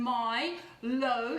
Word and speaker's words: Milo: to our healthy milo i spell it m y as in my low low so a couple